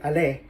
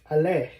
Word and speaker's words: allé: What if, let's say, nous sommes allés? It's plural. Let's say they are mixed both boys and girls. So we need to add s, but still the pronunciation is the same.